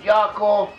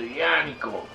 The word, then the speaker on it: Yaakov: have different Hebrew dialects, it may well be that in a Biblical Hebrew the word Yaakov or Jacob was actually pronounced something close to Yaakov.